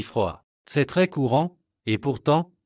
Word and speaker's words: froid: En français, on ne prononce presque jamais la dernière consonne. Par exemple, petit se prononce petit, parle devient parle, et froid se dit froid.